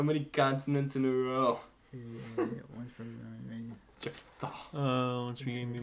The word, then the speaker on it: Jephthah: It's pronounced Jephthah. Jafar. What a name that is. So many consonants in a row. Jephthah.